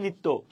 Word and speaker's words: নিত্য: যেমন নিত্য, নিত্য দন্তানুস্কারে ত, যখন নিত্য, এখানে ত কয়টা? একটা, কিন্তু আমরা বলি কয়টা? 2টা, ঠিক আছে।